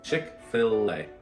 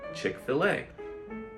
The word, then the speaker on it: Chick-fil-A: Phonetically spelling 했어요. Chick-fil-a. 이렇게 때문에 like original spelling 이렇게 어렵지. 이거 전에 프랑스 단어 어려워. 그래서 미국 사람 이렇게 fillet, Chick-fil-a, fillet.